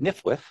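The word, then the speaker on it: NFWF: and Wildlife Foundation the acronym of which is pronounced nifwith to administer the acquisition program in place of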